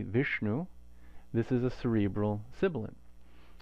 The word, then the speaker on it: Viṣṇu: But you can hear that cerebral quality if you say it correctly, and then the na following the sha is also cerebral. Vishnu, Vishnu, sha.